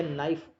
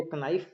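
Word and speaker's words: knife: जैसे night, KNIGHT, या नाइफ, के साइलेंट है दोनों में. तो छोटा बच्चा लगभग उसको क्या करता है, नाइफ को कनाइफ पढ़ता है, कनाइट पढ़ता है, तो उसको जब तक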